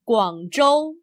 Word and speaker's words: Guangzhou: Notice that in the Chinese name of the city, ZH is pronounced much like the English J, J. Remember the name Guangzhou.